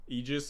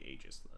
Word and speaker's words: Aegis: Eegis is the correct pronunciation. So the correct incorrect pronunciation where I like to say ae would be agis.